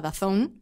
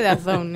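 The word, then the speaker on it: DAZN: da zone da zn que dicen que se pronuncia dazon Yo siempre digo Dan Yo creo que es impronunciable todavía porque al final nos enteraremos de Cómo se pronuncia dicen que the zone entonces bueno eh yo diré the zone ellos han apostado desde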